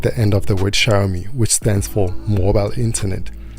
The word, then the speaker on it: Xiaomi: the then vp hyugabara think of the two words show me then pronounce the first word as if it was shower i hope you got